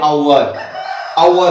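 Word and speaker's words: hour: और यहाँ पर है आवर, तो यहाँ पर एच जो है वो साइलेंट हो जाएगा, यहाँ पर इसको पढ़ेंगे आवर।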